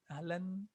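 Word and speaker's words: أهلاً: Ahlan, this is what we are pronouncing. Ahlan. But this na doesn't exist.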